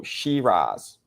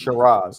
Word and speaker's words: Sheeraz: You go Shirz. Yeah. How do how you how do you say his name properly? Shiraz. I don't think you go Shirra. But it is spelled Shirraz.